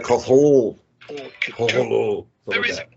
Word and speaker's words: Cthulhu: How did H.P. Lovecraft pronounce this word? Well, the short answer is Cthulhu. And by the end of this video, you'll be able to pronounce it as well. And you can correct those who pronounce it Cthulhu and Cthulhu if you really want to be that guy.